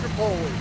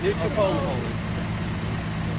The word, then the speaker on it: New Tripoli: How do you pronounce it? Tripoli. New Tripoli.